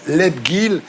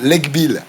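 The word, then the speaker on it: Lebghil: Je disais c'est bizarre mais bon, je précise quand même à nos amis téléspectateurs que c'est William Lebgil et pas William Legbill.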